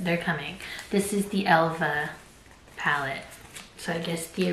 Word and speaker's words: Elva: the original Helga and I'm pronouncing it Elva because it's an a with two dots on top and I think you pronounced that as a and not a a I think it's